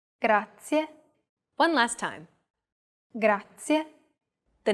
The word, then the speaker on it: grazie: Do you remember the trilled R? We talked about it in lesson 2. Even though it looks like the English R, the pronunciation is very different.